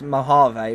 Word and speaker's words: Mojave: Oh, Mojave. Yeah, it's actually pronounced Mojave.